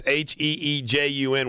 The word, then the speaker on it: Heejun: How do you pronounce this guy's name? It's Heejun was sent home.